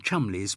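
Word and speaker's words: Cholmondeley: indeed with british surnames there are many whose pronunciation is similarly at odds with their spelling one need only mention chumley's both chomple and fanshawe spelled featherston though there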